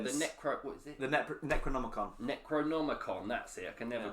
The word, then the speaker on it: Necronomicon: the necro what is it the ne Necronomicon Necronomicon that's it I can never pronounce it right when I'm trying to CL